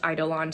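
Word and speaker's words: Eidolon: this but based on the Audi book it's pronounced idolon so um that's what I'm going to say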